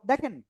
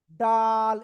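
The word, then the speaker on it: دال: তো দেখেন আমরা ত অক্ষরটা ক্লিয়ার।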